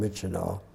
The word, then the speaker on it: Myitkyina: It's spelled very differently, but it's called Myitkyina.